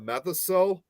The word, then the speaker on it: Methocel: It's METHOCEL.